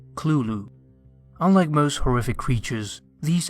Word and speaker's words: Cthulhu: to pronounce it however lovecraft wrote that the closest pronunciation is clulu unlike most horrific creatures